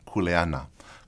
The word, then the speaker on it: kuleana: or the knowledge of kuleana. Kuleana, correctly pronounced, and not kuleana, but kuleana simply means your role or responsibility, whether it be within the ohana, in the traditional sense of family.